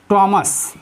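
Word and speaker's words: Thomas: Note में देखिए कभी कभी एच प्लस ओ हो तो वहाँ पर एच साइलेंट होता है। जैसे आवर, आवर मीन्स होता है घंटा। टॉमस, टॉमस मीन्स होता है टॉमस।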